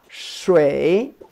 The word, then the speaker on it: 水: This pronounce as sharp. Shui. Yeah, good. Yeah. For some of you, like see this SH.